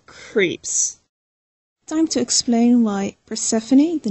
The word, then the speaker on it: Persephone: at like first phone so I thought you pronounced it as first book and everybody looked at me weirdly somebody said do you mean Persephone it was at that